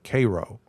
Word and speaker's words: Cairo: That's how you how you say it. Like Karo syrup, k a r o, Cairo.